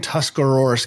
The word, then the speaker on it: Tuscarawas: hour away from where I grew up in Tuscarawas County. So I didn't know that it was legal to say the whole county. I just always heard Tusk County. So you pronounced it correctly. Say that again, Tuscarawas County.